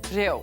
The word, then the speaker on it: Reo: Reo.